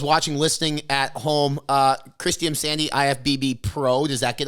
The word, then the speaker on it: Imsande: Anyway, Kristy Imsande. Is that how you pronounce the last name?